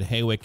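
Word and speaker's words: Hawick: Haywick Avenue, we're going to be westbound at Haywick and Meteor Street. going to say Haywick because that's the correct way to say it.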